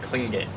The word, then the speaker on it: Tlingit: I really don't know how to pronounce Tlingit? She said it as along the lines of like Klingit, but I'm gonna stick with Klingit.